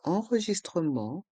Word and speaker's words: enregistrement: Le T de enregistrement est muet. Enregistrement. L'enregistrement d'arrivée. Le E du mot arriver est muet. Arriver. L'enregistrement d'arrivée. L'enregistrement de départ. L'enregistrement de départ. Le T de enregistrement est muet.